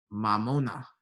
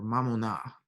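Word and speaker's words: μαμωνᾶ: mammon in the greek mamona or mamona the access on that or the accent on that last syllable there look over here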